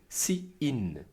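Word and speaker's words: cin: Ainsi, pour faire entrer les informations dans le programme, on utilise ces in prononcé si in.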